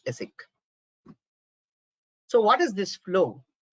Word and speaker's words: ASIC: in short of v the pronunciation is asic so what is this